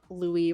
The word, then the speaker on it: Louis: inspired by the fact that Louis rhymes with gooey, and then I was